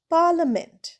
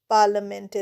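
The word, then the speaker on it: parliament: পরেরটা পি এ আর এল আই এম ই এন টি পার্লামেন্ট। পার্লামেন্টে দেখো আইটা কিন্তু সাইলেন্ট।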